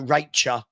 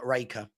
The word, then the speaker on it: Rach: My surname Rach is pronounced CH, not as a K. So, so Racher. Okay. Not Raika.